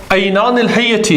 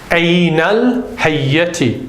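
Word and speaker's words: عينا الحية: Because that should be, remember, in an idafa, when you have the dual in the first part of the idafa, you drop the noon. So it becomes Aynal Hayyati.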